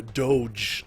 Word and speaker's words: doge: Or a doge, depending on how you want to say it. I pronounce it dodge.